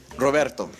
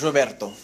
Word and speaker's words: Roberto: sir what's your name Roberto well how you doing Robert now listen Roberto I'm so sorry I just thought that in English isn't it English Robert is the Roberto in Spanish it's Roberto I apologize uh Roberto